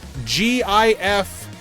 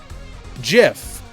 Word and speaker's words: GIF: The creator of the .gif file type, the person who literally created it, said that it is supposed to be pronounced .gif.